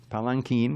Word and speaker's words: palanquin: you will into carrying this palanquin which is how you pronounce it by the way um